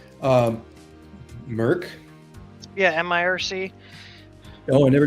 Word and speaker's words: mIRC: to know whoever did you ever use uh Merck mirc call the Queen yeah that's how it's pronounced um Merck yeah mirc oh I never did that was